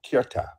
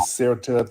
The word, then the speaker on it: Ceuta: Africa in the Spanish territory called Ceuta. It's pronounced different ways. People pronounce it different ways. Ceuta, Ceuta, Ceuta, Ceuta, Ceuta. People pronounce it different ways. I just say Ceuta.